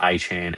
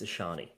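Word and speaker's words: Achane: I've got Achan and Rico the King Daddle against New Orleans. If you're going to say his name, say it correctly. It's Ashani. We've already established this.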